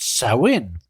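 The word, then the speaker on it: Samhain: N, which is a Gaelic word that is pronounced Sin.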